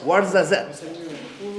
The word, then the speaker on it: Ouarzazate: Can you actually pronounce it? Yeah, of course. Ouarzazate.